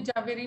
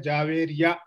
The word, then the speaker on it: जवेरिया: जावेरी नहीं है, जावेरिया। जावेरिया। मैं भी पहले गलत प्रोनाउंस करता था उसके नाम। ठीक है, हाँ, जावेरिया। जवेरिया, जवेरिया, जा भी नहीं, जवेरिया, जवेरिया।